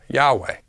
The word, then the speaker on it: Yahweh: four vows I a iota Alpha Epsilon and alpha pronounced as Yahweh we don't see how